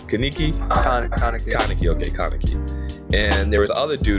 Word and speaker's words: Kaneki: There was we said Kaniki. Kaneki.